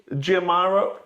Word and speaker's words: Giamaro: Yeah, and I want you to pronounce the manufacturer's name. The manufacturer's name, Giamaro Automobili.